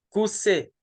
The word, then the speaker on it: Koussé: Koussé. Voilà. Yaté, oui. Parce que le nom, je n'arrivais pas à bien prononcer tout à l'heure. Maintenant, c'est Koussé.